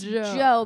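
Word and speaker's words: Djo: Yeah, I guess the D is silent.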